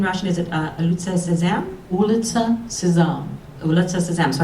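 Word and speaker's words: Улица Сезам: Ulitsa Sezam.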